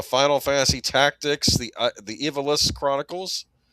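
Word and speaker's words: Ivalice: Uh, Final Fantasy Tactics, the the Evilis Chronicles. We used to always pronounce it Ivalis, but I think it's Evilis.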